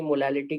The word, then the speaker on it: molal: तो pure water की मोलैलिटी कितनी होती है? 55.55। इसको ऐसे प्रोनाउंस करते हैं, मोलल। समझ आ गया सभी के? मोलल, MOLAL। मोलर मतलब होता है मोल पर लीटर।